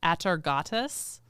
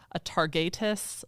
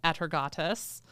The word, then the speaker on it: Atargatis: There were a few different pronunciations, but the one I'm going with is Atargatis. Okay. I've also heard Atargatis. I'm sure there are other correct pronunciations, but I'm going Atargatis.